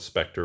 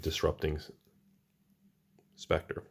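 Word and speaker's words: Disrupting Sceptre: Some people call it Spectre when you're kids and everything, but it's pronounced, I believe, Disrupting Spectre.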